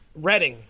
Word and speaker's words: Reading: daring of their performance at the 1992 reading reading I believe is how you pronounce a Reading Festival the band experienced technical